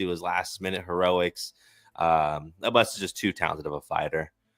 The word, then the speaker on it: Abus: Now Abus is ranked, and now that he is ranked, Abus rhymes with a moose.